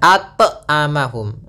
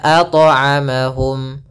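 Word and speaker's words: أطعمهم: Yang kedua adalah menambahkan hamzah, misalnya at'amahum. Nah, ini tambahan hamzah salah. Harusnya mengalir saja at'amahum.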